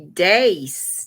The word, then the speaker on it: dace: What is a dace? D-A-C-E. Rhymes with race. Spelled the same except with a D to begin with.